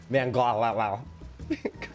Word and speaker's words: Van Gogh: That's the correct pronunciation. Van Gogh.